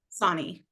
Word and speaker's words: Sonnie: be pronounced so and how do you pronounce the last name Sonnie Sonnie perfect perfect uh thank you so much